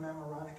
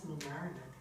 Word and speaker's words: Mamaroneck: said to this lady, could you tell me where 307 Memoronic Avenue is? And she looked at me, she said, honey, that's Mamaroneck. I had the accent on the wrong syllable.